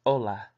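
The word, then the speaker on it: hola: word we got is Ola which means hello in Spanish pronounced o la adios which means bye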